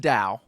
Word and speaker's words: Tao: talking to him about a legendary place called Tao uh which which is pronounced Dao yeah yeah but they everyone in the movies